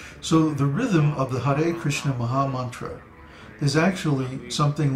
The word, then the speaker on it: Krishna: the correct pronunciation of krishna's name is there's no Krishna there's no I sound in Krishna it's Krishna Krishna k